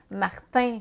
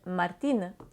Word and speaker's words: Martín: Martin, ça sonne très peu hispanique, parce que, encore une fois, on a prononcé le I et le N en tant que syllabe. Ils n'ont pas ça en espagnol, donc on devrait dire Martín, Martín.